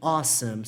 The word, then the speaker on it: awesome: Olha a pronúncia dessa palavra. Awesome. Awesome, tá bom? Meio estranho mesmo a pronúncia dela, né? Mas awesome, que é pronunciado assim, significa incrível. Só que awesome começa com um som de vogal.